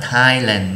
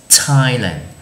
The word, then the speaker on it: Thailand: cái chữ, đúng không, là chữ t đi với chữ h cũng sẽ được đọc là chữ t trong một vài từ như là Thailand, chứ chúng ta không đọc là Thailand nhé, là chữ t,